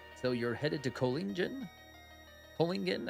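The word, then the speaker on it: Kohlingen: Kolingen, I think is how you say it.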